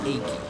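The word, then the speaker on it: Akee: way to go here I hate anyone who says it as Aki because it sounds stupid like who who actually pronounces it as Aki that that doesn't sound right it's achy it it just sounds more right to me the the opening is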